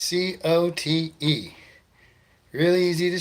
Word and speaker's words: Cote: C-O-T-E. Really easy to spell. Really hard to pronounce for some weird reason, huh?